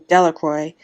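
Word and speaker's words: Delacroix: Jones and Dicky Delroy the villagers pronounced his name Delroy eventually made a great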